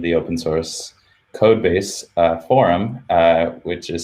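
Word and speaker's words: Forem: we've recently named the open source code base forum which is spelled f-o-r-e-m and that stands for the phrase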